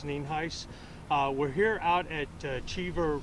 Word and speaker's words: Nienhuis: My headphones Sheriff Al Nienhuis, spelled Nienhuis, and it's pronounced Nienhuis.